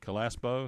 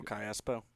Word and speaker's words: Callaspo: Calaspo, is that how you say it? Oh, Callaspo.